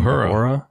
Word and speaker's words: Uhura: Uhura.